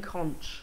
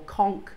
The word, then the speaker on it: conch: sea that is Queen conch or conch depending on how you pronounce it I think here in the west we call it conch however if you go